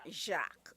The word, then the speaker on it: Jacques: Is it or Jack, right? Right, yeah, Jacques, okay?